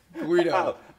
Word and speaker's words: Guido: Guido.